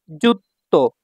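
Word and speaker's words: ずっと: তারপর দেখুন যুক্ত। এইযে তোটা এখানে আছে আর সুটা ছোট থাকলে তোটা দুইবার উচ্চারণ হবে।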